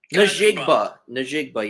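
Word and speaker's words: Njigba: Najigba, yes. The J is silent, but yes.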